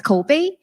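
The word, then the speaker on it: 口碑: Okay, and the word, if some of you may be able to recognize, the word is pronounced as Kobe, which stands for word of mouth.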